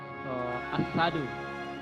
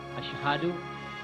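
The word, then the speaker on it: أشهد: Dan ada satu lagi tadi masalah maharil huruf as-sadu. Ada 2-3 orang yang saya dengar cara pengucapan asyhadu dia baca as-sadu.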